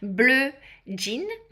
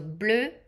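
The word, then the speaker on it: Bleu Jean: Sorry, blin. So jean is the way we say denim in French. So blin.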